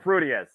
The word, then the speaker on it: Prudius: Oleg Prudius.